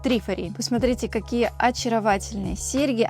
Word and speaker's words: Trifari: Англоязычные коллекционеры обычно произносят название бренда как «Трифари».